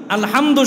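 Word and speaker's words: الحمد: উনি একবার এক বয়ান করছিলেন, শুধু এই আসসালামু মিমের পেশ ভালো করে উচ্চারণ করা, আরেকটা হলো আলহামদু, আলহামদু শব্দের দাল পেশ দু, এটা ভালো করে উচ্চারণ করা।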